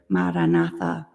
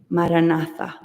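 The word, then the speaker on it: Maranatha: silently begin to recite the word maratha Mar na say it with four equal syllables uming breathe normally and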